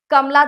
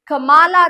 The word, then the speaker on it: Kamala: My Mother at 66 कमला दास ने लिखी है. Spelling first thing first note कर लीजिए, कमाला दास, KAMALA, नॉट कमला, कमाला दास. इट्स KAMALA, कमाला दास.